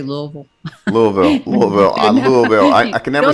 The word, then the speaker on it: Louisville: Sharon is based in Louisville. Do I say it correctly? Louisville? That's one way to say it. We kind of say Louisville.